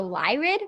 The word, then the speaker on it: Lyrid: is the meteor shower the lyrid meteor shower if i'm not mistakenly pronouncing it no you're doing perfect that's exactly how you say it thank you um so